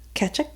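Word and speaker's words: Tkachuk: try it again Matthew the tea is really throwing me off ketchup it sounds like you're saying ketchup it's not ketchup like hind 67 k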